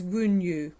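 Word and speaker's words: Wunjo: For me, this one feels like the sun card and the Ace of Cups, and it's pronounced as Wunyu.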